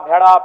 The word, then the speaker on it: भेड़ा: अड़ का महत्त्वपूर्ण स्थान है जैसे काड़ा माड़ भेड़ा पीड़ा डाा गौड़ मोड़ ये उच्चारण केवल कुड़माली साहित्य में ही संभव है